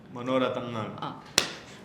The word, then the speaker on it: Manorathangal: Manorathangal. Say. Manorathangal. Manorathangal. What is your like non-maluse problem with nga? Say nga. Manorathangal. Manorathangal.